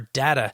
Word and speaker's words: data: additional work so that our data or our data depending on how you say it can be correct we're